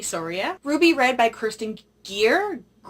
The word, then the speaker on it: Gier: Ruby Red by Kirsten Gier, Gier, I keep wanting to say Greer, that sounds normal, but it's Gier.